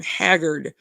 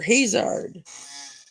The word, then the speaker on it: Haggard: It's just like if somebody were people mispronounce my last name all the time. Haggard, like Merle Haggard. They call me Haggard or Hazard.